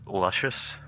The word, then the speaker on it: Lucius: I believe it's pronounced luscious. Luscious. Pronounced luscious, yes.